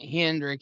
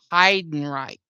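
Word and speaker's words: Heidenreich: Well, I I just now realized I've been saying the halfback's name wrong. It isn't Hendrik. It's Hiden Reich.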